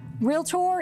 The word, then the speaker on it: realtor: a new lensey also realtor is a two syllable word a realtor friend of mine told me one time he remembers by the fence story he was climbing through that barb wire fence and his britches got real tore okay okay that's